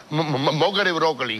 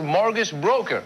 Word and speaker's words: mortgage broker: Por eso yo soy, no recuerda que yo soy tu mejor Mocker y Broccoli de este país. Mónico, te he dicho ya varias veces que no se dice ¿cómo es Broccoli? Es Mortgage Broker.